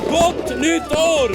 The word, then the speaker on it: Gott nytt år: Gott nytt år!